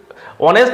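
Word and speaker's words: honest: আচ্ছা এইচ কেন, মানে এইচ অনেস্ট has silent H.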